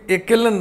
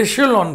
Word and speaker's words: echelon: पहली बात तो ये एकेलन नहीं है, कुछ लोग इसको एकेलन बोलते हैं, आप नहीं बोलिएगा। इसका उच्चारण ये लिखा हुआ है एशेलॉन फॉर्म।